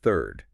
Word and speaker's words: THIIIRD: That's T H I R R D, but pronounced third.